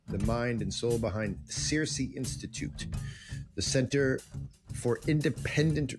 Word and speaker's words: CiRCE: I say it right depends what what region you're from if you're Greek you got to say kir k yeah you're right if you're from Wisconsin you'll probably say Cersei if you're from Kentucky